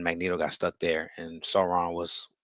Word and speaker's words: Sauron: Tolkien, Sauron. Same spelling, same. same Yeah, pronunciation, but very different character.